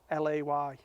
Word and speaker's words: Caley: It says on the website, it says pronounced Cahlay.